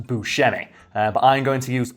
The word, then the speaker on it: Buscemi: His name is supposed to be pronounced Buscemi, but I'm going to